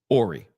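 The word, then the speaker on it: Horry: side chick is it Orie Hy it's PR pronounced Orie okay fine Orie okay so there his car as well so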